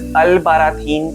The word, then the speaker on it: Albarracín: It is a difficult pronunciation. It is pronounced as Albarracín, and this is often considered one of Spain's most beautiful medieval villages.